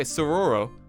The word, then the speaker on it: saguaro: in the spring then saguaro cactus pronounced silver o oh okay sororo uh can grow to